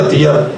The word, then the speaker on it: अतिया: कुछ लोग अतिया भी पढ़ते हैं, अतिया प्रोनाउंसिएशन गलत है, अतिया उसका नाम था।